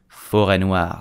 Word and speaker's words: forêt noire: But in English we call it Black Forest and in French we call it Forêt Noire. So again, how do you pronounce it correctly?